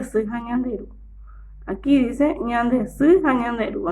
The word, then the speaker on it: ñande: Ñande, ñande. Muy bien, 2 sílabas. Ña, de. Esta es una letra en guaraní. Tiene un solo sonido.